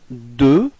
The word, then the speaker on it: deux: So now, deux. Okay, final X is not pronounced.